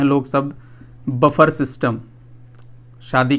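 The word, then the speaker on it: buffet: भी जाए कहते हैं बफर सिस्टम तो बफर सिस्टम जैसा कोई शब्द होता नहीं है उसके स्थान पर यूज किया जाता है बुफे इसको बुफे पढ़ते हैं जिसमें टी साइलेंट होता है इसी तरह से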